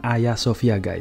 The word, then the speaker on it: Hagia Sophia: tulisan bahagia Sofia ini harga Sofia ini dibaca Ayah Sofia aku juga membuat kesalahan